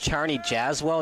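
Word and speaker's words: Czarni Jasło: I don't know uh Charney yzo is probably closer to pronounced Charney jazell that's what Eric was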